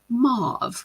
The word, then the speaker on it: mauve: you say mve or whether you say mauve cuz I see it every way and I would is raised with mave so mauve sounds weird to me anyway think that